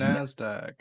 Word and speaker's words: Nasdaq: that's okay it's just it's pronounced nasdaq it's an acronym yeah i don't even